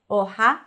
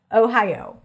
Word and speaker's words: Ohio: Ohio, not Ohio, Oha, but O-hi-O. O-hi-O. All diphthongs.